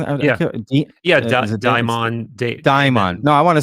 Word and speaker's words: daimon: Some people say daemon, but I think daimon is probably the closest to the Greek.